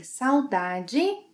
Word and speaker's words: saudade: By the way, saudade is the Brazilian Portuguese pronunciation.